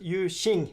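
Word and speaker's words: Yu Jing: occasions let's see so they are also um yu ying i would say but you shin is the way you want to pronounce it anyways so the figure of mao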